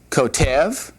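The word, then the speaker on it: כותב: All right, the accent when this is done is on the last syllable, and so this is kotev, and this one up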